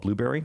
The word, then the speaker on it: Blubrry: So before we sign off, want to talk about our podcast hosting site called Blueberry. That is spelled BLUBRRY.